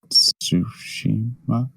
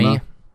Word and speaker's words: Tsushima: No, I wish Ghost of Tsushima? Samurai. The T is silent, Red Dan. Dead. So it is Tsunami. Shima. Okay. Tsunami. It's not tsunami.